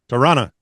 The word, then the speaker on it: Toronto: Toronto is pronounc pronounced Toronto.